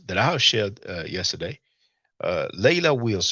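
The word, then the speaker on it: Leila Wills: Chuck Morgan, in his interview with Layla Wills that I have shared yesterday, Layla Wills, just like it's spelled, Layla, Leila space Wills, Wills.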